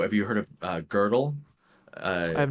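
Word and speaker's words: Gödel: you heard of uh girdle uh I have not girdle g o d l but the O has like a double dot and so it's pronounced girdle and um uh he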